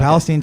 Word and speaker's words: Palestine: Well, so Palestine is how it's pronounced. Yeah, okay. Palestine, Texas. Shout out Palestine, Texas, all 10 of you.